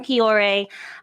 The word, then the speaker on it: Cioré: people are saying it with confidence so i'm kiore um i actually from the midwest i grew